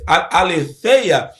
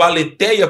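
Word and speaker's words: ἀλήθεια: Mas não é só a verdade do evangelho, a aleteia, né? ou aletheia, no grego, aleteia, como nós pronunciamos aqui para nós falamos português.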